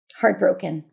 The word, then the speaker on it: heartbroken: Heartbroken. The tea is held in heartbroken, by the way.